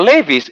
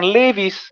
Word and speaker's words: Levi's: Tapi kalau Levis bacanya bukan Levis, Levi's.